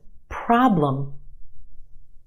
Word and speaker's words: problem: Two syllables in this word. Our first syllable is emphasized. The problem is stretched and emphasized in the first syllable. Our second syllable is where you have your schwa, lum.